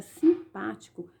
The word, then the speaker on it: simpático: palavra simpático na palavra simpático percebam criar sílaba tônica é a sílaba pa ela é pronunciada com mais intensidade e ela está em antepenúltimo lugar tem o corpo o